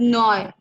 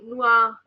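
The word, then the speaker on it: noir: और this is नॉय. हाँ, नुआ. जैसे बुआ. बुआ.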